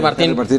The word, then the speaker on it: Martín: Lo que dice que la confusión viene porque en su acta de nacimiento original dice Martín, es decir, no tiene acento la I. Pero le dice, no, soy Martín. Así. Martín con acento en la I.